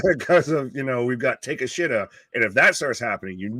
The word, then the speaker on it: Takeshita: Yeah, do you want to say his name or do you want me to correct you after you say his name? I just took a swing at Takashita. Takeshita. Takeshita. Yeah, it's not as again,